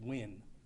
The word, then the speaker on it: Nguyen: officer andrew nguyen and i'll spell that it's n g u y e n pronounced win he is 34 years old and has been with lvmpd since 2018.